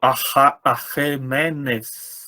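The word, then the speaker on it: Ἀχαιμένης: Se você pronunciar esse ai na pronúncia restaurada, que é, né? Na pronúncia erasmiana a gente fala ai, mas provavelmente não era ai, né? Era é. Então seria mesmo Arremenes, que é essa dinastia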